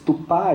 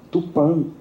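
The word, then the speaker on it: Tupã: Não só o manitós, mas esse tupá, escrito com A aberto, destoa muito da pronúncia corrente tupan, com A fechado, nasalizado, que era mais comum no tupi.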